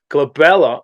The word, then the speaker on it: glabella: over and over because this term glabella rhymes with my daughter's name Isabella and so that's why